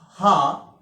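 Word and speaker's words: ح: This is H, this is ha. Its pronunciation in English H-A-A, ha. We use for this letter one diacritical mark under the letter H to signify that it is a heavy letter. So because we pronounce it heavily like ha, ha.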